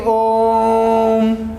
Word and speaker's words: ॐ: ए home का अब ॐ का उच्चारण होता है वह किस प्रकार किया जाता है एक लंबी-सी हक लेकर यहां तक कि ओम इस प्रकार उसका उच्चारण किया है मतलब उसको बोलने में तीन गुना समय ज्यादा लगता है तो जब तीन गुना